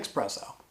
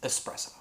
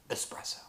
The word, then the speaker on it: espresso: patterns and generate generalizations let's look at expresso it's not how you say it's not how it's spelt it's totally wrong its espresso espresso we screw this one